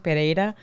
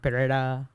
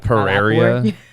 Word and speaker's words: Pereira: Well, it's Pereira. That's how you say it in Spanish, Pereira. But I mean, my boyfriend, he says like Pereira.